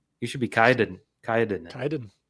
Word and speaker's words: Kyed: I mean, the way I mispronounced it when I first saw it would probably be Kyed, which isn't the worst. Yeah, right. But then I think you put in your Twitter profile rhymes with died, and I said, there it is.